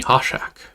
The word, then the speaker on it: Hoorshak: Yeah, my name's pronounced Hoshak.